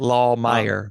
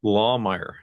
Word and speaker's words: Lahmeyer: It's a good German last name. Lawmer. Okay. Uh, Lahmeyer. Meyer. Yes. Lawmeyer.